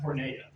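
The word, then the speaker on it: πορνεία: sexual immorality Jesus says the Greek word for sexual immorality is pronounced pora which specifically means means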